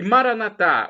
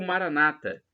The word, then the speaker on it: Maranatha: onipotente proverá Creia e Maranatha ou Maranata as duas pronúncias estão corretas e o significado é